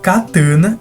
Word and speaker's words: katana: A pronúncia dessa palavra, que seria a palavra japonesa, realmente é cataná. Enquanto a pronúncia da palavra katana é katana, sendo essa novamente, uma palavra de origem portuguesa que é semelhante a uma tradução da palavra.